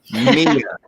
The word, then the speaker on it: Mia: And last but not least, and I got the name pronunciation correct, Mia. Yes. Did the Mamma Mia help you out?